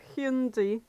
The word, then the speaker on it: Hyundai: yet I have a hundi or high andai I don't give a what oh I'm still pissed off that apparently Hyundai cars have always been pronounced hundi oh Hundai yes yeah